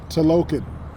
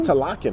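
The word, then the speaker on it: Talokan: pretty funny yeah um to Logan to Logan t-a-l-o-k-n we wasn't even close they don't pronounce it like that Pelican I don't they say to lock in or something all right yeah there's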